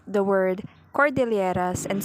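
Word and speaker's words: Cordilleras: end and mispronounced philippine as philippines the learner mispronounced the word cordelieras and said call de lieras outstanding universe value the learner mispronounced the word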